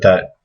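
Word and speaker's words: ث: So this is, again, this is like TH, TH, TH. Tha, Tha, Tha.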